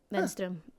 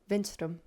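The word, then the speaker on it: Wenstrom: Venstrom. Venstrom. Yeah. But it's pronounced Yeah. It's pronounced with with an with a V. Yeah. But it's spelled with a W, which is confusing to Swedes as well.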